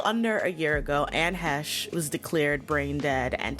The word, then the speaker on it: Heche: When I looked up how to pronounce Anne's last name, I saw it on the pronunciation guide as Heche. And then I saw in interviews that she pronounced it Heche.